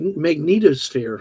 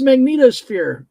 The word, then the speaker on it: magnetosphere: Oh, I called it mag magnetosphere like X-Men, but no, it's not magneto. Okay. Well, you and I differ very widely on our pronunciation with me. Florida. Yeah. Yeah, I have a problem. It's magnetosphere.